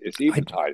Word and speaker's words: Eventide: I got Eventide right. Yeah. Yeah. And thank you. You're welcome. Amazing how many people say Eventide without checking, but it's Eventide. It's a real word.